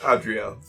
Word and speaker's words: Eris: So, Written Eris, pronounced Adriel.